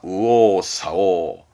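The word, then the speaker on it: 右往左往: 발음은 우오사오입니다. 조심하세요. 우오사오입니다. 우오사오.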